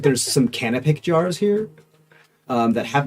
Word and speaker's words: canopic: it's canopic. Canoptic.